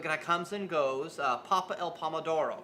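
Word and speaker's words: pappa al pomodoro: your menu but guy comes and goes uh papa el pomodoro right that's right did i say it right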